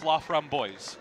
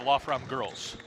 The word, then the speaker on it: Laframboise: The correct pronunciation of her last name is anglicized? I have been told it's Laframboise instead of Lafram Girls.